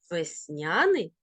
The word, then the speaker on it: весняний: тож послухаємо і подивимося можна говорити завжди і завжди мабуть і мабуть помилка і помилка просто і простий також і також алфавіт і алфавіт Весняний і весняний такий він подвійний наголос рухаємося далі запам'ятай є